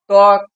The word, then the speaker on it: ত্বক: ওয়া উয়া যেমন ধরো ত্বক তক উচ্চারণের মধ্যে ব এর উচ্চারণ কোথায় দেখো তো পাচ্ছ না খুঁজে ত্বক দ্বন্দ দয় বয়